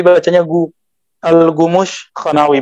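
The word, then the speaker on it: الكمشخانوي: Al-Khumushkha tulisannya ke kaf, tapi bacanya Al-Khumushkhanawi, bahasa Turki, Persia Turki, campur Persia Turki.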